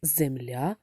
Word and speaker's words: земля: чи на другий земля правильно в слові земля наголос падає на другий склад а перший склад є ненаголошеним дітки скільки складів в